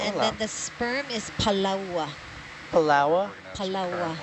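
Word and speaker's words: palaoa: And then the sperm is palaua. Palaua? Palaua. Like the island? Yeah. No, like palaua. Palawa. Spelled like it's spelled. That's how you say it.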